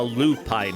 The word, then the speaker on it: lupine: I Pine one might I need to teach you syllable stress now okay okay Lupine Kine feline the stress is on the first syllable the Lupine one there we go